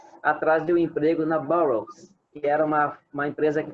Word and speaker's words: Burroughs: Burroughs. Como se escreve? B-O-U-2-R-O-U-G-H-S, Burroughs. Como se tivesse um G-H-S no final. Burroughs.